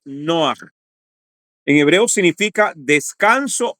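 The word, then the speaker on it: נֹחַ: es el estudio introducción la palabra noah eh que es la pronunciación que se ha traducido como Noé pero la pronunciación hebrea es noah en hebreo significa descanso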